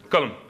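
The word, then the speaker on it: قلم: Kalam. Yes. Kalam, or Kalam. In Egyptian, I'm half Egyptian. In Egyptian, it would be Alam, because we don't really like that first letter.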